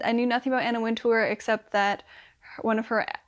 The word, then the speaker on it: Anna Wintour: working for Anna Wintour is it Anna Wintour Anna winter I should look this up before I say her name like 10 more times alright is Anna winter so this is a